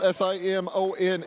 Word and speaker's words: Simone: Simon Zanetto, spelled Simone, is actually pronounced Simon because Italian foreign exchange student.